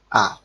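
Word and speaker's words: ㅏ: এই বর্ণটির উচ্চারণ হচ্ছে আ। বাংলাতে আমরা স্বর আ অথবা আকারের যে উচ্চারণটা করে থাকি, বাংলাতে আমরা স্বর আ বা আকারের যে উচ্চারণটা করে থাকি সেই আ।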